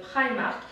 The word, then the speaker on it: Primark: moi j'ai toujours dit Primark, donc également moi aussi sur Primark, ouais. C'est plus simple. Là en fait on prononce à l'anglo-saxonne Primark.